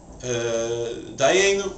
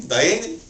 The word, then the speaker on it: Dayenu: Europe, Poland, Galicia, Hungary, they pronounce A as I and U as E. So saying Dayeni. And what was this priest's name? Dayeni.